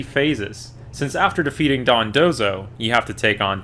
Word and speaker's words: Dondozo: thing going on here, and first we fight Dondozo, which might be one of the most mispronounced and misspelled Pokemon I've ever seen somehow. Seeing lots of Dodonzos like the Dodongos from Legend of Zelda, and I called it Dondoro for some reason.